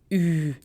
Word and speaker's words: Ü: Now for that, you can take the English word huge, huge, and drop H and GE. You'll be left with the sound of Ü sound.